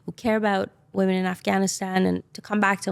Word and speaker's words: Afghanistan: And by the way, the proper way to pronounce it is Afghanistan.